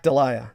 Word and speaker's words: Dahlia: about the black dahlia or how do we pronounce that black delia black delia that's it the black delia not not enough